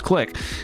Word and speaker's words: clique: And I was saying clique and everyone was saying PJ, it's click. And I was like, oh God, I feel so stupid for thinking it was clique when actually it is clique.